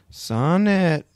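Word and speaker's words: Sawnet: Sonnet. Ooh, not like a Shakespearean sonnet, but nope. Like a saw and a net put together.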